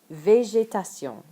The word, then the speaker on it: végétation: Détruire, végétation. Attention ça pour prononciation VG.